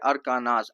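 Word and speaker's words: Arkansas: Hallucinating, अब यहाँ पे देखो एक वर्ड आया है अरकानास, ठीक है, अरकानास, आधा ना वाला प्रोनाउंसिएशन जाएगा।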